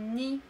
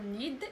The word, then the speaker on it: nid: Un nid. دي لا تنطقنا نقول نيد إنما ني. Un nid.